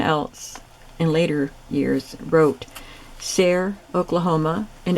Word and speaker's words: Sayre: day, but someone else in later years wrote Sayre, Oklahoma, and it's spelled the same way as the Sayre that I live in, S-A-Y-R-E.